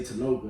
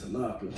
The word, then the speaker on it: Tanoka: they first of all they pronounce it wrong they say tanoka instead of tanaka wait so reading it